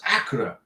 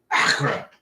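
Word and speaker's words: Accra: a message in YouTube telling me how to pronounce Acura and it's like Acra that's how you say it uh Jay bter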